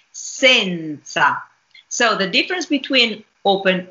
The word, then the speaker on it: senza: that we have here I read it as it has to be pronounced as diction says sand sun sand with open e but I don't say that when I speak and I don't say that when I sing I say Senza so the difference between